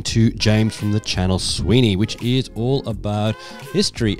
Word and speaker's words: Suibhne: Suibhne. Sweeney. Yeah, Sweeney. Sweeney. It's just Sweeney.